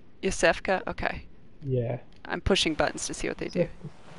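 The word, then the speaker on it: Iosefka: What is that, Eofska? How do you even pronounce these things? When you guys are talking about it, is it just like, yeah, you kind of make up the pronunciation? It's Yosefka. Yosefka?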